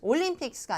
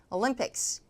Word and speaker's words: Olympics: 실제 명사니까 Olympics 할 때 뒤에 강세 Olympics, Olympics가 아니라 Olympics, Winter Olympics.